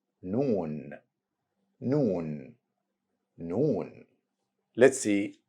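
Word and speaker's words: نون: easy one because it's compared with letter n in English same sound of letter N in the word nice repeat after me noon noon noon n now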